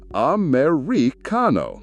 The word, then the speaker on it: Americano: The pronunciation is Americano.